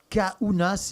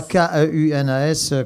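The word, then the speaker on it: Kaunas: Vilnus litu enfin conas counas et non pas ku n AAS comme pourrait comme on pourrait penser à la prononciation kounas voilà et donc voilà on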